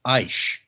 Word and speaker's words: Aish: I wanted to say my name is pronounced oh I'm sorry it's aish i s so aish I am not at